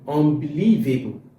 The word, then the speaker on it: unbelievable: Now in this content in this putting the stress on the fourth syllable that will be unbeliev unbelievable which is correct. If I put it on the fifth one it will be unbelievable. It's not correct.